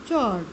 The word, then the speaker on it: chord: उसे हम लोग, उसका स्पेलिंग क्या है? CHORD, चौड़।